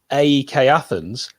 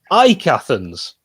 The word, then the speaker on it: AEK Athens: your team played against i've always called them aek athens and i found out last night it's pronounced ike athens yeah yeah my my